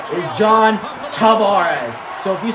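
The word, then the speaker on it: Tavares: folks I'm dangerous I'm if you guys say toar you're wrong there's a video from Sports from the man himself John tarez saying that the correct pronunciation is John Tavarez so if you say tarz you're incorrect so I hate when I hear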